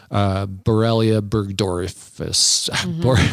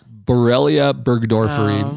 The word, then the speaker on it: Borrelia burgdorferi: We talked about Lyme, the Borrelia burgdorfus. How do you say that? Bartonella? Borrelia burgdorferi.